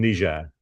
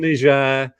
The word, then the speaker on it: Niger: the data that showed that trend was in Niger.